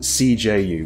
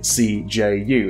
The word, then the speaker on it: CJU: some people's minds by pronouncing it CJU instead of CJU or Kaju or something like that. Another pronunciation, that's how it's meant to be pronounced, as I'm saying the letters, like it's an acronym, because it kind of is.